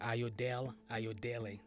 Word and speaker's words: Ayodele: Today, I have Ayodele. Ayodele. Ayodele. Ayodele. Yep. Okay. I was having a hard time pronouncing it. Ayodele.